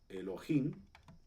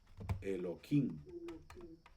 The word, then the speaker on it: Elohim: ustedes han escuchado que hay algunas personas que bueno pronuncian Elohim Pero hay otras que pronuncian eloim Okay de hecho este Bueno